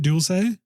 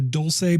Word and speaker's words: Dulce: Is it Dulce? Yeah, they say Dulce is actually a mispronunciation.